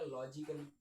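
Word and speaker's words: logically: अब यहां पर आ जाएगा लॉजिकली। तो आप देखेंगे इसमें भी हमारा ये साइलेंट है।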